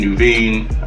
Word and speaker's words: Nuveen: let's see for example Naveen Nuveen that's how you pronounce it you can see